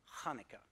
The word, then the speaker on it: Hanukkah: to us from Hebrew now these words are pronounced with this sound uh uh with this kind of friction noise coming from the back of your mouth it's similar to the huh sound in Baja if you speak German but of course because most English speakers can't pronounce this sound they just kind of substitute an H sound a huh sound so here are a